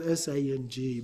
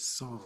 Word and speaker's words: sang: It's spelled s a n g, but it's not sang, it's song in Tibetan pronunciation.